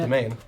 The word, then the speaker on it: demesne: Domain. Domain. Which is great because the word is pronounced domain even if you spell it We the checked CK2 before, way.